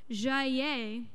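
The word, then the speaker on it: Jayer: This guy, Henri, pronounce it with me, Jaillet, thank you.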